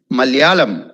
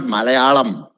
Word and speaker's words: Malayalam: that a bit okay malayalam it's not malayalam it's malayalam okay malayalam now you might